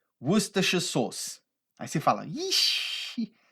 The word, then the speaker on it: Worcestershire: A gente não pronuncia aquela palavra ali da forma que a gente lê, tá? O inglês não é uma língua fonética, igual o português. Então não é Worcestershire, Worcestershire, não tem nada disso. É Worcestershire sauce. Se você tiver inglês britânico, você não vai pronunciar aqueles R's ali, vai ficar Worcestershire sauce, tá?